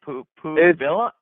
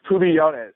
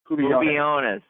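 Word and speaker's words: Pubillones: Pubilla? It's Pubiones, so the double L is kind of pronounced as a Y. Pubiones.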